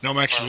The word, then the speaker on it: Nomex: And that pronounced correctly, Nomex. Yes, Nomex is their fireproof.